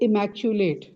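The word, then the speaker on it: immaculate: इट is pronounced as इमकुलेट।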